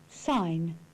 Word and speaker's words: sign: The silent G. Campaign. Sign.